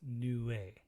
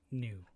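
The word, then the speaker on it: Nue: believed to be a harbinger and it's actually pronounced new a new way not new n-u-e new a fear of misfortune from natural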